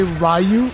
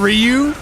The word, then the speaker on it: Ryu: Also, that movie is the reason why I used to say Rayu instead of Ryu cuz in that movie they pronounced it rayu and it was the first time I had ever heard it.